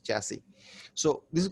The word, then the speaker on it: chassis: It just spells like chassis, but the actual pronunciation is chassis.